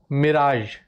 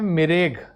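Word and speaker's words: mirage: एक और interesting case इसका हम लेते हैं, इसे कहते हैं फिनोमेना ऑफ मिराज। वैसे इसे पढ़ते हैं मिराज, लेकिन लिखा जाता है मिरेग, राइट, लेकिन प्रोनाउंसिएशन है इसका मिराज।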